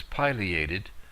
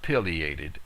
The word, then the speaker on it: Pileated: one of my errors the correct pronunciation is Pileated not pated as I have always said before it is so named for the pileum the top of the bird's head I suppose it is